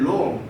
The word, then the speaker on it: Rome: When Rome. 이때는 로마나 이렇게 있지 않고 롬이라고 읽어요.